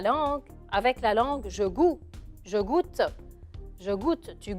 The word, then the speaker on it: goût: من هيك بنقول له السانس le goût. شوفوا كتير بيشبهوا بعضهم، يعني إذا حفظتوهم هون تحفظوهم هونيك، بس le goût شوي صعبة لأنه بتنكتب بهيدي الطريقة. G-O-U avec un T que je ne prononce pas et je mets un